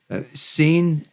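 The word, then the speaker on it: sîn: Seen, S, I with a roof over N. Seen, spout with S-I-N as well. No roof. Scene, music scene, as like that.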